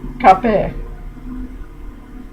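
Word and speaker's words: kapı: So I'm going to pronounce this cape, door, right? K-A-P-I. I've underlined the last syllable, and I put down the notation E sound, which for me is Ed sound.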